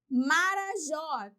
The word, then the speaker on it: Marajó: Marajó, 3 sílabas, última acentuada, porque termina em O.